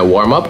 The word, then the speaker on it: warm-up: Существительное warm-up, ударение на первый слог. А глагол warm-up. Фраза глагол, 2 слова. Warm-up. И ударение на up.